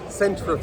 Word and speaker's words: centrifuge: Centrifuge.